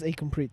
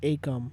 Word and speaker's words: Ekamprit: And my name is Ekamprit, but people here call it Ekam or Akam or, right?